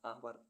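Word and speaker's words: hour: honest honest means ईमानदार एच ओ यू आर आवर आवर means घंटा ऐसे words जिनमें अल्फाबेट के साइलेंट रहता है के एन ओ टी नोट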